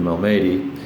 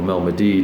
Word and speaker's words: Malmedy: push Piper forward all the way through to Malmedy, or Malmedy, depending on how you'd like to pronounce it, and capture that hex.